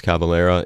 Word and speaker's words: Cavalera: from soul flies out art angel and max Cavalera is the singer and guitarist and he was